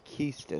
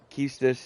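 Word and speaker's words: Quistis: or this game and said that the correct pronunciation is Kista s' so I'm trying to break that habit of calling her acquisitive but Kista is her name and she's probably my favorite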